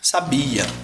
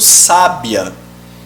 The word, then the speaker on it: sábia: para se separar fechado mas o que que eu posso fazer sa bi a Oi tá um adjetivo ela é muito sábia o que que eu fiz agora a sílaba tônica tá aqui e aqui formou um